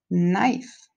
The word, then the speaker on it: knife: going to write these down drive dice mice knife you're hearing that knife decay is quiet hike